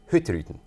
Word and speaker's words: Hurtigruten: The Norwegians like to spit this name out like it's one syllable. So they say hutton. Oh boy. You have to be really fast.